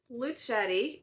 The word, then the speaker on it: Luchette: I did research how her name is pronounced, and it is Luchette. I've heard a bunch of different pronunciations from different people who have read this, but that's what Claire Luchette said, so I'm going with that.